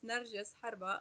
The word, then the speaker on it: Narjas Harba: So my name is Narjas, and the simplest way to pronounce it is Narjas Harba.